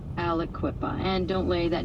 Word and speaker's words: Aliquippa: It's pronounced Alequipa, so it's kind of like three syllables. Alequipa.